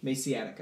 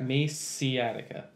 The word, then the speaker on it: Maxeatica: How's that pronounced? Maciatica. Maciatica. Attica!